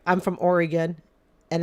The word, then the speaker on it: Oregon: forgive me here okay it's like I'm from Oregon and it's pronounced Oregon not Oregon okay it's pronounced Oregon